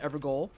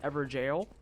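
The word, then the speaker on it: Evergaol: I was calling it an ever goal and then I think it was like week two or so that someone came through and was like no this is pronounced ever jail and I was like oh that's interesting and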